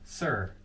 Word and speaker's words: Suhr: How do you pronounce it? Suhr.